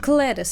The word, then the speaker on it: Cletus: Cletus, I feel, yeah, with a hard C.